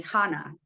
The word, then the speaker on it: Hannah: The H is silent here.